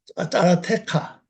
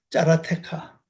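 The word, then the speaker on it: צָרָתְךָ: 환란 단어가 짜라테카. 이것이 장모음이기 때문에 이것을 발음하는 겁니다. 짜라테카.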